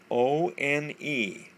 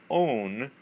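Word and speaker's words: -one: And all of these guys will have names end with O N E. And we pronounce that own. Not one, but own.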